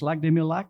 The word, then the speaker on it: Lac des Mille Lacs: There is such a place, Lac des Mille Lacs, that's how you say it.